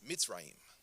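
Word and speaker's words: מצרים: But what you might not know is that the Hebrew word for Egypt is a word that it's Mitzrayim. That's how you say it.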